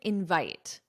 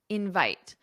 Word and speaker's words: invite: I didn't invite invite. So with verbs, the syllable stress is on the second syllable invite, but with nouns,